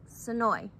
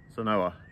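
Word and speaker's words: Senoia: Sonoy. Sonoa. No, it rhymes with boy.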